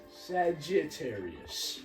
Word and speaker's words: Sagittarius: No, say with like Say Saget, not Sajar. Sagittarius.